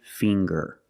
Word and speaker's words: finger: with ginger very good and finger finger we see the nasal sound plus the hard G the G fing g-g